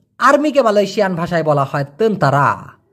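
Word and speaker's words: tentera: টি ই আর এ এই টি কে ওরা ত এর মত উচ্চারণ করে বিধায় এখানে তেনতেরা হয়েছে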